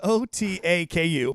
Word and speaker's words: otaku: introducing to our listeners so the word is otaku otaku otaku and what it means is do it again otaku Grande oh Taco Bell Rico it's o-t-a-k-u pronounced otaku and in Japan it means a young